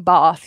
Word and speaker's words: Bath: is like a bath if you are from bath you say bath but I'm not so I say bath Barth is a beautiful city